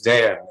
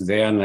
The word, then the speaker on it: Dejan: Sorry, because I don't know the correct pronunciation. Dejan, Dejan, Dejan, please welcome. No problem at all. It's Dejan. It's Dejan, and greetings from Canada, actually.